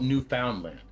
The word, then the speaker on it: Newfoundland: I still say Newf Foundland mostly. Uh, I just said Newfoundland right there to like try to conform, but it's spelled New Foundland.